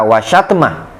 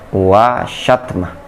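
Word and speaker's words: وشتم: Ingat ana bacanya wa iyyaka wa syatma. Ini tugas antum nanti ya. Kenapa dibaca nasab wa syatma?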